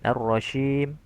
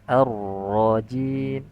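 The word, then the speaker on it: الرجيم: Beberapa perkara yang harus diperhatikan ketika membaca kata arrajim yaitu sempurnakan sifat syiddah pada huruf jim. Jangan arrajim arrajim. Nah, tapi harus arrajim. dia syiddah kuat dan jangan ada sifat hames atau rukhawah sehingga menyerupai huruf syin arrasyim.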